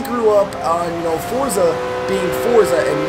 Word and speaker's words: Forza: sh is there anybody that still says Forza with me or you all just say Forza now because that is the proper way to say it out